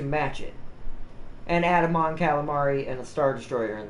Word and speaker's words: Mon Calamari: for the missions yeah Mon Calamari does sound like food but that's technically how it's pronounced sadly the best dropship